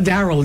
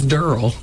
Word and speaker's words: Daryl: It's not Daryl, it's Daryl. Oh, Daryl. Like it rhymes with girl.